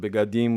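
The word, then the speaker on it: בגדים: And so you can say it begadim with the e being partially pronounced. I know, but I like begadim.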